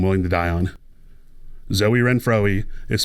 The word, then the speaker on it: Renfroe: If you looked at his name and you call this man Hunter Renfroe, I salute you.